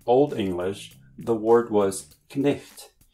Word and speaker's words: cniht: Originally, in Old English, the word was knicht, where you pronounce the C with a K sound and the H with a throaty or guttural sound.